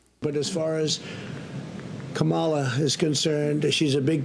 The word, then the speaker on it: Kamala: corrected his mispronunciation of Kamala Harris's name. So what? That's how it is, Kamala.